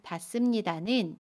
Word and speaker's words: 닿습니다: 동사 닿다에 습니다가 결합한 닿습니다는 닿습니다 라고 발음해요. 받침 디귿은 그대로 발음하고요. 습은 씀으로 발음합니다. 닿습니다.